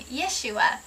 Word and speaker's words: Yeshua: from their sins some people pronounce his name and spell his name Yeshua but our family actually prefers yosua the spelling in the pronunciation of yosua and this is primarily because the spelling in the pronunciation of yosua connects him with to with the father better yah refers to yahovah